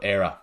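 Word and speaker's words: Éire: you're asking and but era is how is how you pronounce the the the name or the word anyway and if you know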